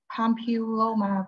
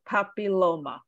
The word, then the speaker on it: papilloma: media excellent uh 50 of syphilis human pumpy pampiloma virus it's a papilloma pampiloma all right do you want to try to pronounce the name of the bacteria give it